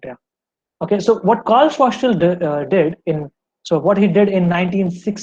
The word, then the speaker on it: Schwarzschild: Sorry if I pronounce it wrongly, but it's for sure not child. It's Schwarzschild.